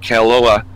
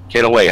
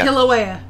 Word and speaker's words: Kilauea: residents waited for a possible major eruption at Kailua. Is that how you say it? Kilauea. Kilauea.